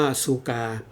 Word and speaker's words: ซูกา: เหมือน กัน นะ ครับ สุขะ นี้ ก็ คือ ออก เสียง เป็น เหมือน คน ไทย นะ ครับ ออก เสียง ง่าย ๆ แต่ พระ พม่า เนี่ย เขา จะ เรียก ชื่อ ว่า ซูกา อัน นี้ เรา อยู่